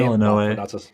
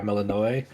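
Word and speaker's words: Melinoë: I forgot the way to pronounce her name. Melinoe. Yeah, Melinoe.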